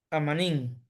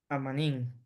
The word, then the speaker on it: amanin: ¿Amin o Amanin, maestro? Amanín. Amanin, pero ahí dice Amin. Ama- Amanín. Amanin.